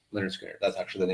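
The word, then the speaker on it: Lynyrd Skynyrd: So Leonard Skinner, pronounced Leonard Skinner. That's actually the name of the album. Okay. Pronounced Leonard Skinner.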